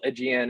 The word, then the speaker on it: Aegean: c so there's um it's uh the actual aegean is spelled a-e-g-e-a-n and we thought we're a little